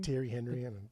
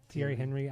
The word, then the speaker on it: Thierry Henry: How do you pronounce his name? Thierry Henry. Thierry Henry.